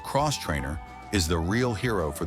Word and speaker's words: X-Trainer: Everyone talks about the Beta RR race models, but the X-Trainer, pronounced Cross Trainer, is the real hero for the amateur rider.